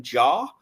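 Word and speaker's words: Jarre: Um the film was written by Kevin Jar. I believe that's how it's pronounced. J A R E.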